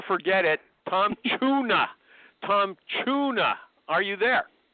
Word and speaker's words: Chuna: Tom Chuna. Are you there? I am, sir. Yes. It rhymes with the fish like I've been hearing since uh middle school.